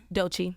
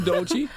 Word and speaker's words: Doechii: Did he pronounce that right? Doechii.